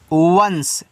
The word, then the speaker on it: once: ONCE, इसको पढ़ते हैं वंश, ठीक है, इसको वंश पढ़ते हैं इस तरीके से, वंश।